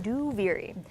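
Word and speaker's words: Duviri: out loud is a that's how you pronounce it by the way duvery and then do not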